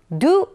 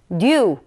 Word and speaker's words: do: 따 생각하실 수도 있는데 많은 분들이 사실 틀리게 발음하고 있습니다 뭔가 짧게 뱉는 발음의 2 이런 발음 보다는 깊은 느낌이 나는 그런 단어입니다 그래서 누 이런 발음 보다는 뉴 외무 요런 느낌이 겁니다 그래서 뉴 유하 멱 뒤 앞 썸띵 될 법한 이렇게 표현할 때 2 이런 느낌보다는 깊게 발음을 해 준다는 거 잊지 마세요 자 6 그렇죠 한번